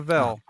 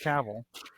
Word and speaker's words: Cavill: Henry Cavill, because he says it rhymes with travel. So it's not Oh, Cavill, it's Cavill.